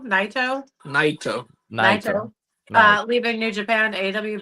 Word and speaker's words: Naito: Naito? Naito.